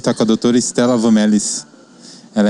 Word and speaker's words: Van Mellis: É Estela Vamelis. Isso é o abrasileirado Como é que do é o nome. jeito certo de falar? Vamelis.